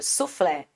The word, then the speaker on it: suflê: mesma acentuação ou seja suflé aqui a gente tem essa separação o flé é a sílaba mais forte automaticamente a última sílaba sabemos que isso é uma oxítona então nós tínhamos que buscar